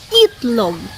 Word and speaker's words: itlog: starts with letter I so for example the word itlog it look starts with letter I or E and the sound should be e so it should be correctly pronounced as it long but no we don't